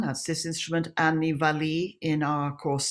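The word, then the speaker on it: valiha: of all we have this is the traditional valley as it's called the spell valleja but it's pronounced valley um and this is an adaptation of it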